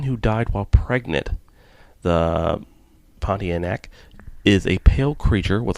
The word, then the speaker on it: Pontianak: a story of a pontiac i'm i'm so sorry if i'm pronouncing that wrong you but it's almost have it it's pontianak pontian there we go uh it's an indonesian